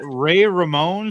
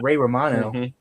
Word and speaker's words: Ray Romano: the next actor because he was going Ray Ramon, 68, TV actor from Everybody Loves Raymond. Oh, that's a good one. He's Manny the Mammoth from Ice Age and it's pronounced Ray Romano.